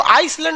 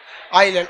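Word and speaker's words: island: आइलैंड में ना S silent रहता है। इसको आइसलैंड नहीं पढ़िएगा, आइलैंड। आइसलैंड तो इस तरह लिखाएगा, आइस लिख के लैंड।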